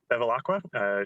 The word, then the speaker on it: Bevilacqua: Bevilacqua, you're up next on the list. If you'd like to unmute yourself, you're welcome to speak. All right, thank you. You pronounced it correctly.